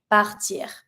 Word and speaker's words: part: So for example, if I'm going to say to leave, partir. Je pars. Don't pronounce the S. Tu pars. Il, elle part. Don't pronounce your T.